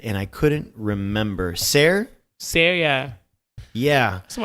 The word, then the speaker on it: Cere: Siri? It was spelled Cere, but they pronounced it weird, and I couldn't remember. Ser, yeah.